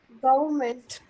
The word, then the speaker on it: government: Okay, so the exact pronunciation would be government. Government. Government. So you don't Government. have to, Government. you don't have, exactly. Just skip the R. R is silent.